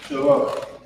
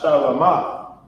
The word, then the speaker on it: Shalom: But this is Shalom. Notice that it's not Shalama, because in ancient Hebrew, we have these lines underneath the characters to pronounce, for its pronunciation of the word.